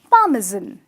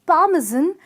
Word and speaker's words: parmesan: It's P-A-R, which is par, M-E, which is me, and S-A-N here is a little difficult to pronounce because in the pronunciation, it's said as Z-O-N, which is parmesan. So the pronunciation happens to be parmesan and not parmesan, as a lot of people say it out.